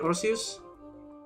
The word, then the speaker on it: Arceus: Arceus?